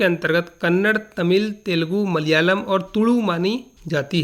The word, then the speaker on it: मलयालम: इसका सही उच्चारण मलयालम होता है।